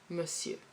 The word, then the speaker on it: monsieur: Monsieur. Monsieur. Yeah, so it's an old word. So it's not necessarily written as it is pronounced, but this is how you write it down.